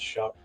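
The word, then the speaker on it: Shough: Pronounced Shuck.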